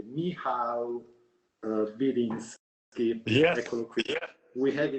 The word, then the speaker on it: Michał Biliński: Attenzione perché lui è polacco e quindi mi sono fatto dire come si pronuncia esattamente il suo nome. Si pronuncia esattamente Michał Biliński.